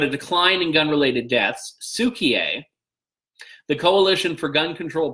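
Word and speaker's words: Cukier: It's not Kukier, it's Sukier. So let's not go with the Kukier pronunciation, apt as it may be.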